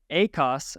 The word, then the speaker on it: ACOS: say it doesn't because the accent is different ACOS accent on the first syllable ACOTS accent on the second syllable to really emphasize that "T" um because it's the